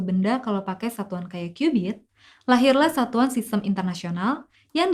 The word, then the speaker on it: cubit: sebagai istilah satu KB tulisannya sih cubit tapi bukan ciri-ciri ikan ya bacanya cubit dan sekitar 4.000 tahun